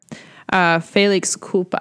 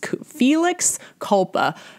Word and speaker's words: felix culpa: check this quickly here Felix Koopa and I'm pronouncing that horribly because I am a Midwestern American Felix Felix culpa no faith it's Felix Koopa but it in English